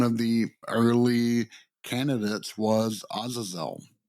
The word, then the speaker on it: Azazel: And one of the early candidates was Azazel. And I know a lot of people will say, oh, no, that's not how you say that name. It's Azazel.